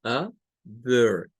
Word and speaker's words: other: No es O, es other, otro, other. Si fuese inglés británico, esta de acá también cambiaría y se haría otra schwa.